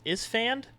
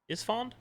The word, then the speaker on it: Esfand: Kiff, and how do you say this? Isfand? Esfand.